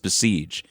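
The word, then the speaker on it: Basij: These IRGC people, these besiege, it's called besiege. Bas is how it's spelled pronounced besiege.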